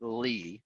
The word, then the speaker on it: Lea: spelled l e a you actually pronounce it lee so like l-e-e so she'd let me